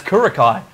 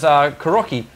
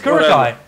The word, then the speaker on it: Kurokai: first made his name, he intended to actually be called as Kurokai. Everyone just kept on pronouncing it as Kuroki. And then he ended up liking that a little bit more. So, he actually meant it as Kurokai.